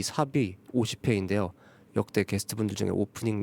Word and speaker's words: SAP: 일단 삽, SAP라는 글자는 말 그대로 삽이라고 읽으면 되는데요.